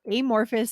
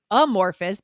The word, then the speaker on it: amorphous: it should have a schwa sound, right? Amorphous, but Hmm. Canadian and American friends telling him no, it should be amorphous, right?